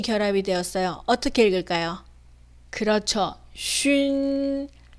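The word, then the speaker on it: xun: 쉰, 쉰. 네, 이 발음을 만약에 soon이라고 읽는다면 틀린 발음이 됩니다. 다시 읽어볼게요. 준, 준, 춘, 춘, 쉰, 쉰.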